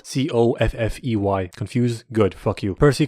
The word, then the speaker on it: Coffey: John Cappuccino, liked to drink but not spelled like it. It's spelled Coffey.